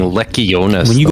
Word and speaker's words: Lectiones: We can get after him for saying Lectiones, though, can't we? Yeah, because there's a T in there and you should pronounce it.